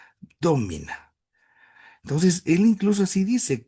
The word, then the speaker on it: domina: un primer momento, sino como la palabra domina, con el acento en la no de domina, domina.